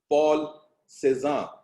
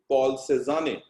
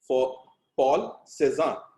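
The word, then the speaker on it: Paul Cézanne: Spelling आएगी पॉल सेजाने, लेकिन उसे ऐसे प्रोनाउंस करते हैं पॉल सेजान, जैसे रेस्टोरेंट ऐसे बोलते हैं ना आप लोग, पॉल सेजान इस तरह से बोलते हैं।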